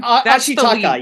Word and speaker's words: Ashitaka: the Ashitaka, is that how you say it? Yeah, Anyway, Ashitaka, yes.